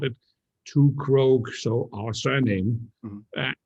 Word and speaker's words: Krogh: And we called it Krogh, so our surname. Mm-hmm. That was very, very nice until I started exporting to the US, because then suddenly it was the Two Crooks. Pronounced in America.